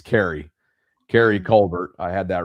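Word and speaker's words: Keary: Yeah, and I got to correct myself from yesterday cuz I steered you down the wrong pronunciation path. It's Carrey.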